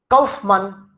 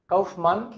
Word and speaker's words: Kaufmann: Kaufmann, Kaufmann, it is double N.